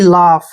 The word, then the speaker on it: laugh: ये ध्यान रखना है, जहां भी UGH लास्ट में तीनों इकट्ठे आते हैं तो इसका उच्चारण आपने फ करना है।